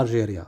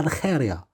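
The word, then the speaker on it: Argelia: يعني في الترجمه تاع باللغات كاينه الجيري كذا كذا، ولكن في الاسبانيه ما خاص تقرا الجيريا، خاص تقرا الخيريا.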